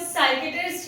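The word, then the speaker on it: psychiatrist: इसे भी हम साइकेट्रिस्ट कहते हैं, इसमें पी साइलेंट हो जाता है।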